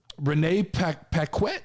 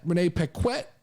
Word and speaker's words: Renee Paquette: yeah uh last story of the day here renee peck quit is that how you say it renee paquette addresses the stupid bully ray situation says bully